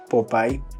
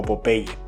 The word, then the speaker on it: Popeye: Hoy te vengo a contar algo que seguro te va a interesar, la revista Popai o Popye, como nos han enseñado a pronunciar en algunos países de Latinoamérica.